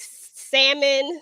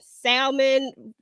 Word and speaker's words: salmon: She said the L is silent in salmon. Listen, girl, I'll be like salmon, salmon, you know, for whatever, for who for whichever version of it you like.